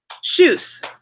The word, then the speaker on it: Tschüss: Tschüss. Tschüss, is that right? Are you eating some corn, Elliot? Yeah, corn, Elliot. Right now. Yeah. Shush. Right now. I got it right. It's pronounced like shush, right?